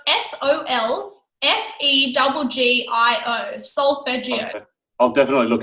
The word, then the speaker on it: solfeggio: But I actually cannot sleep anymore without solfeggio sounding in the background.